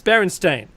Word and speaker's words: Berenstain: I mean, Mekki said this last week, and there's no alternate pronunciation for Berenstain. It's Berenstain.